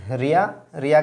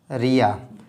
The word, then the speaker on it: ریا: रिया कहते किसको हैं, इसका माना क्या होता है, प्रोनाउंसिएशन से ही याद रखिएगा। रिया, बाज़ लोग कहते हैं रैया, ये नहीं है, रिया, जिसका माना हम आपको